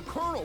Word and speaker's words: colonel: Why do you pronounce it Colonel? Where's there an R in this word?